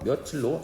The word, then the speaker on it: 며칠: 그러므로 이 단어는 그 원형을 밝혀 적지 않고 소리 나는 대로 표음주의의 원칙을 따라서 소리 나는 대로 며칠로 적게 된다는 거야.